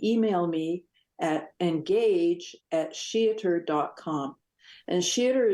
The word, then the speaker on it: Sheatre: And Sheator is spelled like theater, only with an S at the beginning, SHEATRE.